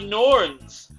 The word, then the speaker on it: Norns: bit like norse uh it also rhymes with horn which uh is one of my favorite things to be on the face of an animal uh those would be the norns wow that is incredible